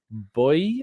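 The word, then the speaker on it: Bouy: guy at galatasarai called boy uh he's I think it's b-o-u-y I'm still Refresh on the pronunciation yes um like a boy that's out at Sea that sort of yeah it's the same way but yeah um he's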